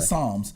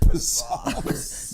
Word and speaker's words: Psalms: Psalms. Okay, don't you say nothing else. Psalms. Yeah, I know the P is silent. Normally, we turn into Psalms.